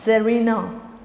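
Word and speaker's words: Czarina: ज़ार, ज़रीना, English में भी ज़ार और ज़रीना, सी इज साइलेंट।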